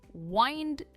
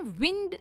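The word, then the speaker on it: wind: बढ़ते हैं next phrasal verb की तरफ जो है वाइंड डाउन। हम इसे विंड नहीं कहते। आई नो स्पेलिंग सेम है पर यहां पर इसकी प्रोन्सिएशन है वाइंड डाउन।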